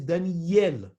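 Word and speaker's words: דניאל: not under the alif everybody who says daniel is mistaken the name is daniel with the dagesh that is how it's supposed to be pronounced these are all great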